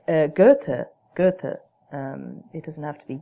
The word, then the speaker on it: Goethe: to say the name Goethe. Don't say Goethe as if there's an R there. That's a real tell that that you're not really, well, it doesn't sound great. So just say Goethe.